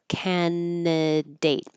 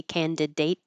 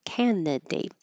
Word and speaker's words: candidate: There's no way to know that you're not supposed to pronounce that D. Sorry. I think if I had never seen this word before, I would say candidate. But we don't say that D.